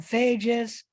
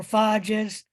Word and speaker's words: phages: use that word, but sometimes they're called phages or phages. Both pronunciations are correct.